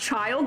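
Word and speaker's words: Childe: grater let me let me grater it's just pronounced child that's weird okay I see h yeah t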